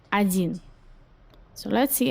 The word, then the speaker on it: один: You write один, you pronounce один. So let's see how do you write it in Russian. Один. Just remember that there is difference in pronunciations and writing in this word.